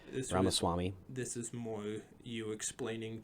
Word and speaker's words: Ramaswamy: I can't remember really pronounce his last name. Ramaswamy.